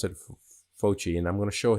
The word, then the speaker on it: Fauci: Some obscure person named Anthony Fauci, I think is how you pronounce it, Fauci, and I'm going to show his information in a second.